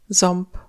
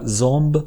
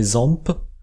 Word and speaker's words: ząb: J'en profite aussi pour signaler que les consonnes sont assourdies en fin de mot, c'est pour ça qu'on ne dit pas zomb, mais zomp.